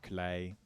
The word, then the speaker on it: Klei: It's actually pronounced Klei. Because I'm Dutch and I'm awesome. It's spelled K-L-E-I, right? That's like straight up the Dutch word.